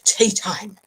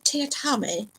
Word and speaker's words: Teatime: Teatime!" "It's pronounced Mr. Teatame, sir," said Teatime with just a hint of reproach. "Everyone gets it wrong, sir."